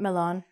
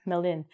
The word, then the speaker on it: melon: Not melon, melin.